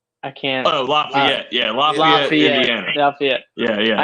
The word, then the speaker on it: Lafayette: law in his homana uh how do you pronounce that and they're out to get me lafette I can't oh Lafayette yeah Lafayette Indiana Lafayette yeah I actually have